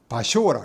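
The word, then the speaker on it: 場所: 그 다음에 쇼라고 읽기도 하고 조라고 읽기도 합니다. 이 소는 장소 소자입니다. 장소를 할 때는 이거를 바쇼라 합니다.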